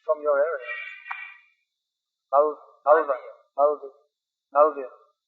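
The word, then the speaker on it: Malaviya: Malvya. It's pronounced. Jyoti Shekhar used to say Malavya.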